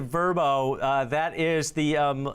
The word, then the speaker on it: Vrbo: get this right guys it's verbo it's not vrbo anymore they pronounce it verbo uh that is the